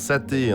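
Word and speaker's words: 沙茶: Oui, on prononce saté en dialecte minan.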